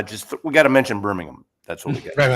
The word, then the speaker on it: Birmingham: So, it would have been good to have someone from Birmingham. And I've learned you got to say it like Birmingham. You don't say Birmingham. You got to say it with without the H.